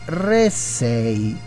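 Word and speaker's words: ῥήσσει: Infatti, nell'originale, la parola che troviamo, cadere a terra, si dice ressei. Anzi, ho sbagliato accento. Ressei. Accento sulla prima E.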